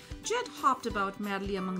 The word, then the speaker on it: Nged: उसने उस वक्त जो है हनी कॉल जो जेड की, दिस इज NGED. अच्छा, हेयर N जो है वो साइलेंट होगा, इट्स कॉल्ड जेड.